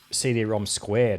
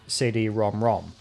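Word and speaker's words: CD-ROM²: Despite the fact that the name of the add-on was written with a superscript 2 at the end, indicating that it should have been pronounced CD-ROM squared or something along those lines, it was officially called CD-ROM-ROM.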